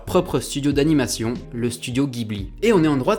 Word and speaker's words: Ghibli: de l'animation en occident on prononce ghibli avec un g dur mais au japon il le prononce avec un j'aime ou et ça donne ça diboli et oui car en